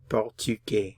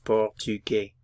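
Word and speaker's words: portugais: espanol Spanish espanol Portuguese portug notice I'm not pronouncing the S portug Portuguese portug Portuguese portug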